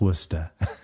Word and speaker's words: Worcester: I know how to spell it but it's pronounced Worcester so I learned very quickly that there's a